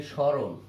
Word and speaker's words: স্মরণ: আর যদি বলি স্মরণ, স্মরণ, তাহলে উচ্চারণ হবে তালব বসা রয়কার ন স্মরণ। এখানে ম ফলা থাকার কারণে এটার উপরে একটা চন্দ্রবিন্দু স্মরণ।